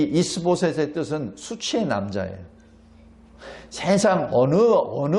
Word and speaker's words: 이스보셋: 사울의 아들 이스보셋을 데리고 왕으로 세웁니다. 여기 이스보셋 하면은 우리말로는 이스보셋인데 이것을 그냥 히브리 발음으로 그냥 하면 이슈보셋입니다.